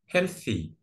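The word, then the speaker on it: healthy: بس ناكد على الصوت الحرف التي اتش احيانا ننطقه مثل حرف الثاء في العربي او نطقه ذا لكن في الكلمه دي ننطقه ثاء هيلثي هيلثي ما ننطق اس اوكي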